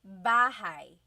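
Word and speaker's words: bahay: You might notice that the spelling is a y at the end. So it looks like bahi, but it's pronounced bahigh. That a y combination is bahigh.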